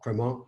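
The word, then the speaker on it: Crémant: fake it like me the T is silent so it's criminal and depending on the region so just south of champagne is burgundy which is called Bourgogne in French so Cremant de Bourgogne lawar Valley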